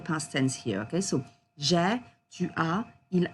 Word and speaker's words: j'ai: A lot of students pronounce j'ai as je, and we can't hear the past tense here, okay? So, j'ai, tu as, il a, elle a, on a for the singular forms.